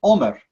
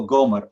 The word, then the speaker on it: Omer: primera letra es diferente, pero suena igual cuando lo dices. Entonces, ambos suenan como Omer, no Gomer, Omer en hebreo.